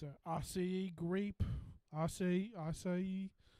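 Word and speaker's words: açaí: it's a asea grape assay acai i just learned how to pronounce that word like or that i was saying it wrong for a long time i thought it was a kai i feel like a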